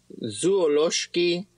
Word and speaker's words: zoološki: zoo is zoololoski vert zuolowski very good so we have that sh sound so zoual vert vert